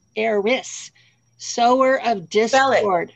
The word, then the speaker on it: Eris: Not Eros, the love god, Eris.